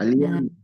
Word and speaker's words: allaient: O sea, ale, pero se escribe al. Alien. Ala, muy bien. ¿Y? Nunca nasalizo entonces esa terminación y como me queda la AI, recuerden que la AI sonaba E.